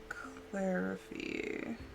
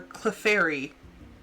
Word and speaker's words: Clefairy: And then Clarify or Clefairy. I've been mispronouncing it my entire life.